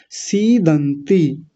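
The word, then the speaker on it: सीदन्ति: सीदंती। आसान है, बड़ी मात्रा है, पहले तो बड़ा बोल लंबा खींचेंगे।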